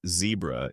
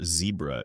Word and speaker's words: zebra: You are now a baby zebra, pronounced zebra if you're British, or zebra if you're wrong.